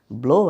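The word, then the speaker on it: blew: ব্লো একটা verb, এর past form হচ্ছে ব্লু। আমরা এটাকে অনেকেই ব্লিউ উচ্চারণ করি, এটা আসলে হচ্ছে ব্লু। Just like flow, flu, নট ফ্লিউ।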